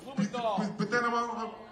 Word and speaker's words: Blumenthal: Blumenthal.